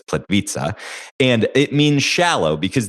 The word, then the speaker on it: Plitvice: So it looks like plit vice but it's plit vita.